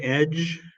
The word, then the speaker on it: edge: And the word edge, it's not a D sound, it's a J sound.